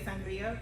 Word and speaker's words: sangria: I tell everyone, if you're going to say sangria, please, of course, roll your R.